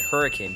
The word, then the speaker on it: Hurricane: to saint george utah which is called hurricane utah not hurricane but hurricane due to the pronunciation of the locals this celebration is a